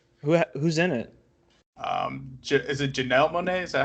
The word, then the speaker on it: Janelle Monáe: Is it Janelle Monáe? Is that how you say her name? It is. Yeah, Janelle Monáe.